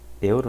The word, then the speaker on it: Euro: Se fala o euro, né? Então, der Euro. E aí, importante aqui salientar pro pronúncia do EU em alemão, que se fala Oi, né?